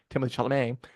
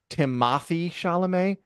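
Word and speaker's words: Timothée Chalamet: suit like the kind that PA tradies wears Timothy shalam no by the way his name is pronounced timoy shalam never not he's not enough anyway the steel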